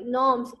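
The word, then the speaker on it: gnomes: उसके बाद देखते हैं research due 1212 सिल्फ salamanders अंडाइंस जी नॉर्म्स, sorry नॉर्म्स and there connection. अच्छा इसमें जी जो है ना साइलेंट है, इसमें नॉर्म्स एंड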